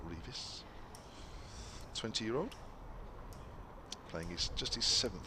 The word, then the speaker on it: Revis: Matthew Revis. It is, not Revis.